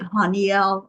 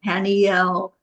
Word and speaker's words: Haniel: you whatever feels right I say it hanyel I've heard it hanel um the eel on